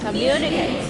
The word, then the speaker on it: communicate: So let's take a look at these possible pronunciations. We could say communicate, communicate, communicate, and communicate. Which would you like to hear? How do you say it? Communicate. Communicate. All right, so you see what happens is we stress the second syllable there, and we're making it longer. So we're saying communicate.